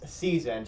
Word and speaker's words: SZN: said it wrong earlier it's not s-z-n it's season she just took out the vowels and added a z instead of a second s so uh i corrected